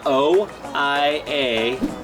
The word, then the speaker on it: Oia: It's spelled O-I-A, Oia.